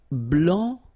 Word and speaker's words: blanc: so here masculine BL don't pronounce the final C and then blanch okay remember when you combine this C you get the sound sh blanch okay so